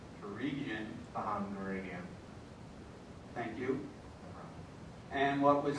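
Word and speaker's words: Gureghian: And I don't know how to pronounce his name. I believe it's Gurigian. Gurigian.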